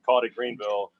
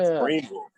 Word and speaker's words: Greenville: I've flown into Greenville before, called it Greenville, and I've been corrected quite a bit. Oh that yeah, it's Greenville. The way to pronounce it is Greenville.